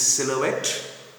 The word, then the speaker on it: silhouette: This silhouette, the pronunciation is silhouette.